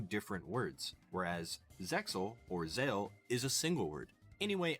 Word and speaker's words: Zexal: I don't know why there's a silent X in there, because the name is officially pronounced Yu-Gi-Oh! Zale in Japan.